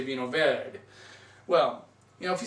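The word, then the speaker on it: Vinho Verde: You don't say Vino Verde, you say Vino Verde. Well, you know, if you say Vino Verde, it's okay.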